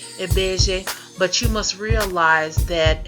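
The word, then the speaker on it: Ibeji: I believe that this is the Yoruba correct way of saying lbeji, but you must realize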